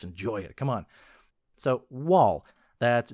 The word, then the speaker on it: Wal: So, Wall, that's W A L and it's pronounced Wall like in Walmart.